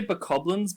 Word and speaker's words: Bokoblin: I say Bokoblins because it sounds like goblin, which is very similar to what they are.